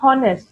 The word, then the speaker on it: honest: But when you pronounce, you don't say honest, all right?